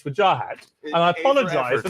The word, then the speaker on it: Wajahat: it, and you told me how your mother pronounces it. We finally got there. After a year of Vajahat and Wajahat, it's Wajahat, and I apologize for not getting this right.